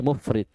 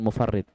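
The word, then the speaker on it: مُفْرِط: menyepelekan bisa paham ini jadi bacanya mufrid bukan mufard mufrid kecintaan yang berlebihan terhadap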